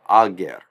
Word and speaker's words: ager: And so an E vowel is stuck in here between these last two consonants to break up the consonant cluster, and we get ager, ager.